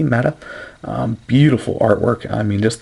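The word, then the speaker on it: Ma'at: I believe that's pronounced Mata, M-A''A-T, Mata.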